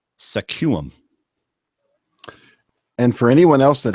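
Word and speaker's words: Sequim: she wants me to pronounce this Town SQ uim which is obviously suum and for anyone else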